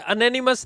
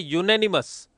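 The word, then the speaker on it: unanimous: और इसको बोला जाता है अनेनिमस नहीं बोलते इसको। इसको बोला जाता है यूनेनिमस। यूनेनिमस। वापस यूने यू आएगा।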